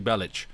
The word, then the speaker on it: Bellic: you play as Niko Bellik I I always feel like the pronunciation's wrong. I'm sure it should be Bellich.